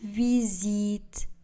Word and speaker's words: visite: Je visite Paris. Le S sera prononcé comme Z.